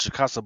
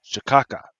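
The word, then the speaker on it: cachaça: supposed to be pronounced chicasa, but on the joint says shaka, right?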